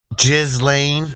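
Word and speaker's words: Ghislaine: musk and gizy Maxwell I think the ghis is pronounced G G's a male version galain is the um female version kind of like aain jiz Lane Maxwell jiz Lane the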